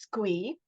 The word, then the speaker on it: Squee: So, the acronym SCCWEE sort of lends itself to being pronounced Squee.